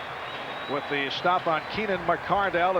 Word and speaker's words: McCardell: burnell all season long he was keenan mcardle last year and now has changed the pronunciation he told us yesterday that his dad actually wrote a letter to the jaguars pr director dan edwards to tell him of the correct pronunciation mccardell the fly pattern willie